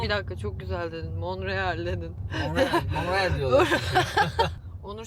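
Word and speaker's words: Montréal: Mon değil ama olsun Toronto'da Toronto diye okunuyormuş toron diye okuyormuş Biz on Toronto demeye devam ediyoruz tler genelde atılıyor Hani tono monreal kebek Allah'tan kebek yani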